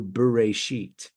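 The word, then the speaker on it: בראשית: in the beginning, but we pronounce the Hebrew Bereshit, which really is in a beginning. If it was in the beginning, it would be Bareshit, not Bereshit. Subtle difference, but the idea even,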